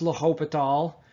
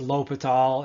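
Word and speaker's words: L'Hôpital: can now do so that word is pronounced la hope at all a french mathematician i doubt you're gonna hear from him after this i've heard it pronounced lope at all if you just call him a hospital you know i don't care how you pronounce it as long as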